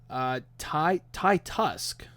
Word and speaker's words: Titus: It's spelled Titus, but it's pronounced Ty Tusk.